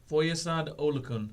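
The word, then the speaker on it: Foyesade Oluokun: Foyesad Olukun.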